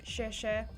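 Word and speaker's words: 谢: try and remember, like, I think X is like a sh sound, so like share is thank you, but it's XIE, share is just thank you.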